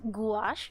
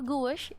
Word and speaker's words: Gouache: I had to google how pronounce this one – it’s goo-AH-sh or goo-USH depending on whether you use American or British slang.